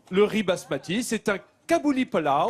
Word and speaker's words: Kabuli pulao: le riz basmati, c'est un kabouli pulao. Kabuli pulao. Je prononce bien?